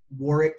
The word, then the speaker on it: Warwick: You can engage us on LinkedIn at Warwick Fairfax, and that is Warwick with the silent W in the middle, W-A-R-W-I-C-K, at Warwick Fairfax.